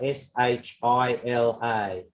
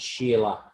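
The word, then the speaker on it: शिला: So in Sanskrit, the word for a mountain or a rock is Sheila, Shila, which is pronounced by the Spanish Chile, not Sheila.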